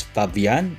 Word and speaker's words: Fabian: Taking a closer look at Fabian Cortez, I believe the correct pronunciation is Fabian because he is Spanish.